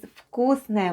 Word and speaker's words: вкусное: Then goes K /k/, У /oo/, C /s/, Then goes H /n/; O /o/, which is unstressed and is pronounced as /a/; and E /ye/ at the end.